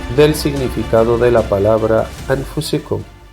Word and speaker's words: أَنفُسِكُمْ: cuyo título Aclaración del significado de la palabra anfusicum, que en español se pronunciafusicum.